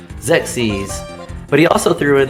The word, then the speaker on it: Xerxes: And it's almost like I'm too sexy pronounced, and I know I actually had to go look this up because every way I said this as a kid was wrong. So Xerxes.